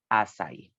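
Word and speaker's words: essais: texts that he wrote during that time as acai it is spelled like this as I was spelled like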